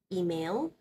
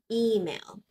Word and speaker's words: email: people pronounce this as email email but the stress here is of the e sound email email okay now you